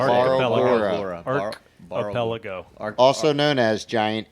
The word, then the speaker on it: Barlgura: The Barlgura. Nope. Barlgura.